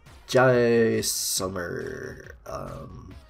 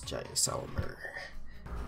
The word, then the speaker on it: Jaisalmer: It's Jaisalmer. How to pronounce Jaisalmer? Jaisalmer.